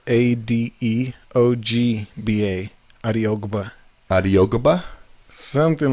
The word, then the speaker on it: Adeogba: It's Adeogba.